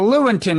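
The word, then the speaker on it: Lewontin: big debate with richard leontyn how do you pronounce his name well lewinton that's a different argument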